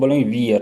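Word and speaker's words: wir: तो, इसे "विर" उच्चारित करें। इसका उच्चारण "विर" करें।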